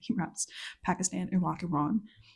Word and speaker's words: Iran: raps Pakistan Iraq Iran but he says Iran like Pakistan Iran like he rhymes those two and it has messed with my pronunciation of the country of Iran ever since.